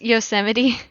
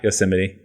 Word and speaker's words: Yosemite: kids nine re ver actually pronounced yosemite yeah yosemite roller ring angle has